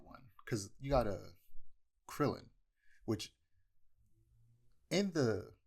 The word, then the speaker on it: Krillin: Oh yeah, like well, I guess that's not one because you got a Krillin, which in the it's weird because I'm not sure because in the manga it's Kuririn, but I'm not sure.